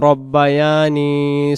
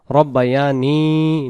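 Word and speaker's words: ربياني: এরপরে আমরা মাতা পিতার জন্য যেটা বলি, রব্বিরহামহুমা কামা রব্বায়ানি সগীরা। এই জায়গায় রাব্বায়ানি, যে রাব্বা যেন উচ্চারণ হয়, রব্বা উচ্চারণ হবে, আর নিস সগীরা হবে না, রব্বায়ানি, নি নুন ইয়াজির নি এক আলিফ টান হবে, রব্বায়ানি সগীরা, সাগীরা উচ্চারণ হবে না, সগীরা।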